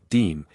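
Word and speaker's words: disme: The very first 5-cent coin authorized by the US Mint was actually the half dime pronounced deem in 1792 struck from silver.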